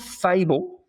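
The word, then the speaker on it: Faible: Yeah, it it's called Fable. Um, but it's spelled F A I B L E.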